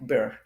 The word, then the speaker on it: birr: It's like, Oh, beer.